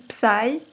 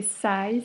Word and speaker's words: Psy: Parce qu'il y en a qui disent Psy, alors que c'est Psy, c'est comme en anglais, le P ne se prononce pas, comme on dit Psychologue.